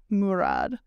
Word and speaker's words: Murad: Sorry, I was corrected in the comments on the proper pronunciation of his name. It's Murad.